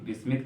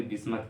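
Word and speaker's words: Bismuth: Australia, antimony, बिस्मिथ, कोई बिस्मिथ कहता है कोई बिस्मत कहता है, मेरे सर जी बिस्मत कहते हैं, ठीक है, मैं बिस्मिथ कहता हूँ, सही है।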